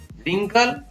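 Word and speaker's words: wrinkle: इसी प्रकार WR से शुरू होता है तो उसमें भी W का उच्चारण नहीं होता है, तो इसको पढ़ेंगे rap, wrong, wrist, रिंकल, ring.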